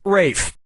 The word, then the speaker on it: Ralph: worked yeah ray Fiennes first name is spelled like Ralph but pronounced Rafe and his brother Joseph